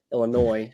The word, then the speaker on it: Illinois: from Illinois right now Illinois no don't pronounce the ass um staying right next